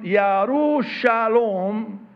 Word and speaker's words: Jerusalem: peace in Hebrew, Jerusalem, Yerushalom, because in Hebrew they don't pronounce the J, in Arabic we do,